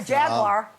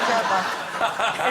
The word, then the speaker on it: Jaguar: oh no not a Jaguar jagar if you're going to promote them at least learn to say it properly how much say jaguar three syllables over here yeah you